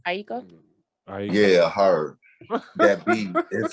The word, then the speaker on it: Aiko: remade beat of Love and Die from Janae Akio. How you say her name? Aiko.